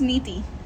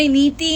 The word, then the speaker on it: Niti: It's Aditi and it's Neeti. Titi. Titi. Titi. Aditi. Beautiful. Ankita. Niti Didi. No, Neeti and Didi.